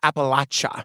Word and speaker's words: Appalachia: Tight-knit community of 2,100 people, 82 miles from Cincinnati on the western edge of Appalachia.